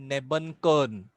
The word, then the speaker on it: Nebenkern: ये spirally arranged mitochondria को हम लोग बोलते हैं नेबनकर्न।